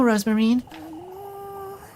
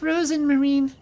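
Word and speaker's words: Rosenmarine: trouble I know rosemarine wait what has she been saying it's Rosen Marine how has she been pronouncing it I didn't even notice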